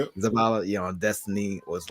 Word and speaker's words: Zavala: commanders about Zavala did I say it right Zavala yeah on Destiny was like one of the